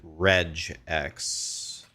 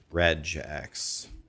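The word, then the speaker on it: regex: Most devs pronounce it reg X. Red jacks.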